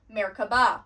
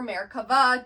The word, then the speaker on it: Merkavah: It's because it is three words and they each have their own meaning to then create Merkabah or Merkavah, depending on the pronunciation.